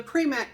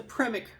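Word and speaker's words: Premack: But I think this is pronounced the Primic Principle. Maybe it's the Primic Principle, but it is spelled P-R-E-M-A-C-K. All right, I'm going to say Primic.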